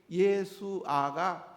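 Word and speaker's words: ישוע: 근데 그 예수아가 이제 그리스로 가면서 신약 성경을 헬라어로 쓰니까 그리스 말로 쓰니까 예수님 이름이 예수아가 히브리어 예수아가 이에수스로 바뀐 거예요. 이에수스로. 알았죠? 그러니까 우리 한번 발음해 봅시다.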